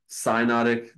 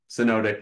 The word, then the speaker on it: synodic: Some people say synodic. Anyway, synodic is how I know how to say it.